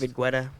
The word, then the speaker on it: David Guetta: David Guetta.